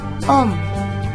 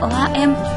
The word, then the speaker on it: ohm: Nah, ini simbolnya ya, ini simbol untuk ohm. Jangan bacanya OHM, tapi ohm.